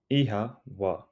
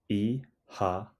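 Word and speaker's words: Oíche mhaith: together repeat after me ehha ehha e ha it sounds like e ha the O has a long sound and the MH is pronounced like a soft W craving more Irish greetings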